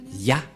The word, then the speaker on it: Yah: Qu'on ne doit pas changer, car dès que vous voyez les formes Yod et He, vous le prononcez directement Yah.